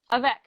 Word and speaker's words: Avec: It was called, how do you pronounce it? Avec? Avec. You're okay, like the only person that's ever said it right.